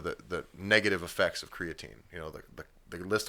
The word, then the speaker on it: creatine: also the official masonomics position is it is pronounced creatine I've I've realized I've been fluctuating between creatine